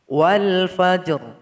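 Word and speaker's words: والفجر: Namun jangan lupa memberikan vokal dari huruf ro ketika kita membacanya. Wal fajr, harus ada bunyi r-nya.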